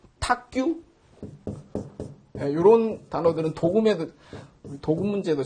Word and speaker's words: 탁규: 그래서 탁으로 쓰였을 때 용례는 많지 않은데 예를 들자면 뭐 탁규 이런 단어들은 도금 문제도 잘 나오네요. 뭔가 잘 헤아리는 거를 탁규라 그래요. 요거를 도규라고 읽지 않고 탁규라고 읽습니다.